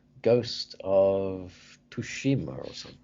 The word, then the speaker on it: Tsushima: of gaming recently, particularly, I'm probably going to pronounce it wrong, Ghost of Tsushima or something. Tsushima, that's a Japanese, yeah.